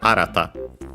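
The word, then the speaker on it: 新た: means uh new uh accent on the first. So arata uh n active and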